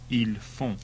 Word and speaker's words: ils font: Notice all the plural ones end in ont and are pronounced on. Il est. Ils sont. Il va. Ils vont. Il a. Ils ont. Il fait. Ils font.